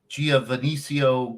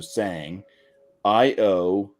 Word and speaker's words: Sangiovese: Giovannisio grapes or whatever the heck they are. Yeah, I'll spell it out. Yeah. SANG, so sang, IOVESE.